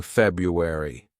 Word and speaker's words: February: This actually a word that's mispronounced by lots of students because they sometimes say February. It's not February, it's February. February.